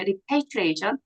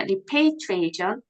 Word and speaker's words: repatriation: 멕시칸 repatriation 프로그램 그러면 repatriation 이게 A 발음이에요. repatriation 리패가 아니라 repatriation 이게 이제 본국 송환이라는 뜻입니다.